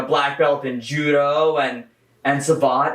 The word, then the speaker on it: savate: Well, first off, it's pronounced savate.